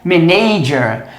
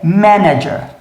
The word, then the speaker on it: manager: Essa palavrinha aqui, muita gente pronuncia errado porque desloca a tônica do local correto. Muita gente fala isso aqui como manager, mas na verdade é manager.